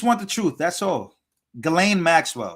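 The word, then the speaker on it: Ghislaine: the truth that's all galain well it's not jelle it's GLA hope I say her name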